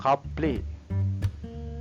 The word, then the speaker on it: cable: Cable. Letter A always sound as R sound. So car. Cable. Letter E sound as E sound. Elephant. Can you remember? So A sound. So cable. A. Cable.